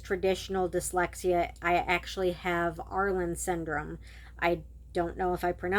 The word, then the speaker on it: Irlen: I actually have Arlen syndrome. I don't know if I pronounce it right.